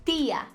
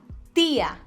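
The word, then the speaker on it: tía: coisa Eu por exemplo em português diria tia com esse chiado e em outras regiões do Brasil me contem aí como é que você pronuncia Tia você poderia dizer tia e estarei lá pronunciação dele espanhol tia tia sempre assim sem chiado para facilitar Tenta colocar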